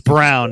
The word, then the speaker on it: Brown: name Brown yeah he's brown it looks like Braun but it's pronounced Brown he's good he's really